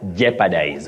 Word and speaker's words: jeopardize: Many people innocently say jeopardy, but the O in that word is silent, not pronounced. Just like in the word jeopardize.